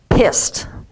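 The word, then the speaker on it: PIISD: a new psychiatric epidemic PII SD pronounced hissed private insurance induced stress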